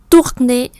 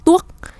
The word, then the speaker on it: tourner: Tour và âm r, chứ không phải là tuốt.